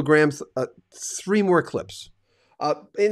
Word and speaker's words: Gramm: into radio uh uh I was pronouncing your name wrong I mean I know it's Luke Graham now because I mean you're